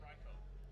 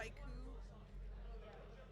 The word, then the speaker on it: Raiko: Yeah, it's Raiko. Yeah. Yeah. How else do people pronounce it? Raikou. Like with the oo sound.